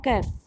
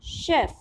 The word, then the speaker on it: chef: इज इट चेफ और Kaif? No, it's neither chef nor kef. Here the pronunciation of CH is sh, so we'll read it chef, ठीक है.